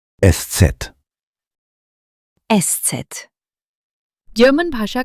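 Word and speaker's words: Eszett: इसका अर्थ है थका हुआ और अंत में एससेट एस सेट जर्मन भाषा का एक विशेष अक्षर है जिसे एस सेट या शफस एस कहा जाता है।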